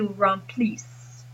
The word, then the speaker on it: remplissent: Same thing here with pronunciation. Il remplit, but ils remplissent.